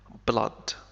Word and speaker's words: blood: with blood وستنتهي بالدم blood هناك كلمات أخرى ننطقها كبلاد فيها حرفي أو مثل flood flood He took the bloody